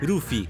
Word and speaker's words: Rufy: protagonista rapper nell'adattamento italiano lui si chiama lupi però ci sono poi quelli che vogliono la pronuncia giapponese quindi rufy cappello italy ambulanza che